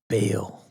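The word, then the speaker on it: Bael: Or you say Dale or Bale? Bale. Bale. He spells it out B-A-E-L.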